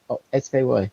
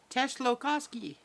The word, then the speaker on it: Tsiolkovsky: Tsiolkovsky. Oh, it's Kovsky. The last part of it is Kovsky. So it's... Tsiolkovsky.